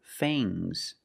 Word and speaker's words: fangs: Use a long A plus the nasal sound and a soft G. Fangs. Fangs. And the S is making a zebra sound, Z, but it's soft.